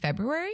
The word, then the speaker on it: February: and the love yeah you're doing the hard R afterwards that first R you knock that sucker right in there well the thing is